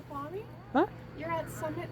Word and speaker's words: Snoqualmie: Snoqualmie? Huh? You're at Summit Snoqualmie Central.